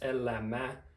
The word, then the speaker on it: elämä: So like elämä, which is life, that's a noun, not an adjective, and it's elämä, 3 syllables.